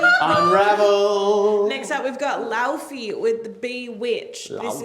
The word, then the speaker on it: Laufey: No, it's pronounced Laufey. Laufey.